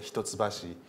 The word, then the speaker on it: Hitotsubashi: this is something take away for you the hitotsubashi please remember my university actually so the my